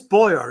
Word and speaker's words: Baugher: It is Baugher, isn't it? That's how the family pronounces it, but there's different people with the same name around the world.